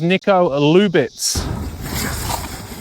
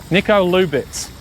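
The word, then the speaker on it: Nico Lubitz: And his name is Niko Lubitz. And I got that one right for a change. I've been trying to say his name now for about half an hour. Niko Lubitz.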